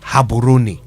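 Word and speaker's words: Gaborone: If not for that, I wouldn't know that the correct pronunciation is haboni.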